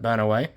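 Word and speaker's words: Banaue: In 1995, UNESCO recognized Cordillera's 2,000-year-old rice terraces, including Banawe, see, I now know how to pronounce that, Banawe, as a World Heritage Center for their profound importance and remarkable preservation.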